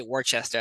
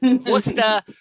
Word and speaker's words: Worcester: I know people who say Worcester. That's not how you say it, folks. It's Worcester, Mass.